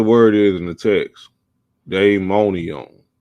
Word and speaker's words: daimonion: So Merriam-Webster, the first definition, he said DAIMONION. That's daimonion. That's not diamond. He tried to pronounce it diamond. Throw y'all off. That's day. Diamond is DIA. This is DAI. Daimonion. And let's see what the definition says.